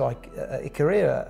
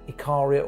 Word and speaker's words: Ikaria: So the whole thing back to Ikaria again, and you can say Ikaria or Ikaria. Yeah. Americans say it different to those in Europe, they say it different to the locals on the island.